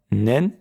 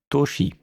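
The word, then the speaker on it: 年: Et la réponse sera du style, du plus grand au plus petit, 2025 nen 4 10 desu. Le 10 avril 2025. Premier kanji, l'année, en lecture on, nen, en lecture kun, toshi.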